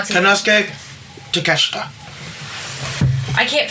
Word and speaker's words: Takeshita: Will Ospreay takes on Takeshita Takeshka. However you pronounce it. Takeshita.